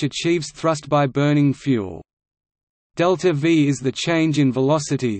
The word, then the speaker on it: delta-v: Delta V, literally change in velocity, symbolized as increment V and pronounced delta V, as used in spacecraft